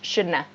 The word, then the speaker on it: shouldn't have: So this have sounds like a in native speech. Shouldna, shouldna. That's what this pronunciation is like.